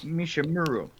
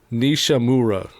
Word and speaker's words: Nishimura: Yoshihiro Mishimura. Yoshihiro Nishimura. Mishimura. Okay. So. Don't ask me to pronounce anybody else's name.